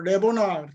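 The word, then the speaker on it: לבונה: 그래서 라메드는 리을 발음입니다. 리을 발음이 나오고 베이트는 비읍 발음이 나고 바브는 이것도 이제 비읍 발음이 나죠. 눈 니은 발음이 나고 해 히읗 발음이 나고 그래서 모음입니다. 모음 이건 아주 약모음이라고 그래가지고 약하게 나는 거. 레 이런 게 레 하더니 레보나 이렇게.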